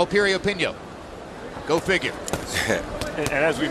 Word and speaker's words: Piriyapinyo: Once again, the name begins with a P, but it's pronounced Piriyapinyo.